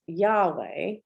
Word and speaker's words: Yahweh: in hebrew this is yahweh y-a-w-e-h but they didn't use vowels so that's how we pronounce it so but in the